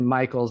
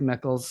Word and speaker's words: Mickles: Yeah, it's kind of that same thing with like Charity Mickles, but it's actually Michaels, but it's spelled like Mickles.